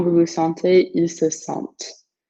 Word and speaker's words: sentent: Nous nous sentons, vous vous sentez, ils se sentent. And that T you pronounce, excuse me.